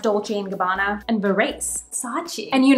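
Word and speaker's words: Dolce & Gabbana: than 600 options including Brands like Goosey Gucci dolls and Gabbana actually it's pronounced Dolce Gabbana and Berets Sachi and you know me the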